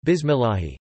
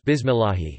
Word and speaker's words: Bismillahi: If, however, the preceding vowel is I, kasart, then the lam in Allah is light, such as in the basmala, bismillahi. Bismi al awramni arhim. So if a Muslim says bismillahi, he should not pronounce the lam with a heavy emphasis, instead, just with the tip of the tongue.